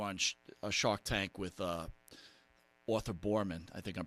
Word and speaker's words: Boorman: But, if people haven't seen it, I'm sure they all have, when you were on a Shark Tank with Arthur Boorman, I think I'm pronouncing that right?